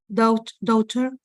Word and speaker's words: daughter: Son, daughter, my Okay, children. please repeat. This case, this is not pronounced.